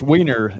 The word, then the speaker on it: Wiener: And I don't want to mispronounce his last name. what is your last name, brother? It's Weiner.